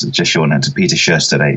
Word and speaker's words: Sjöstedt: I mean, really, it's pronounced Sjöstedt, but that's even more difficult. But to think of it just as Sjö and then Stedt. Okay, Sjöstedt. Yeah, exactly. The H at the end is silent.